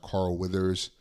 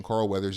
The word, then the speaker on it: Carl Weathers: And this movie has, obviously, we know it's got our main man Arnold, but you also got Carl Weathers. Is that how you pronounce it? Carl Weathers. Weathers, yeah.